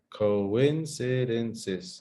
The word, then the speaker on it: coincidences: a hard work coincidences no coincidences yeah five syllables coincidences coincidences coincidences coincidences